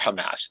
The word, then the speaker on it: Hamas: And the initials in Arabic are pronounced Hamas.